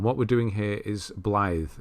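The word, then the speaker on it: Blaidd: And what we're doing here is Blythe. I know it's spelt Blade, but it's Blythe apparently.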